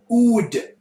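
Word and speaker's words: oud: Unfortunately, ood is the answer. It's spelled A-U-D.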